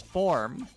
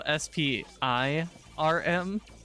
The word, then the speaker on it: Sporm: It'd be very easy to mispronounce it. Yes, the humble Spur. Especially if you go SPIRM. as opposed to going SPORM.